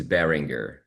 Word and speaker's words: Berenguer: that's going to be short for. That's a Portuguese version. And the last name is Berenguer.